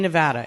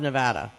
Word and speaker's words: Nevada: Right now, in Nevada, in all of Nevada.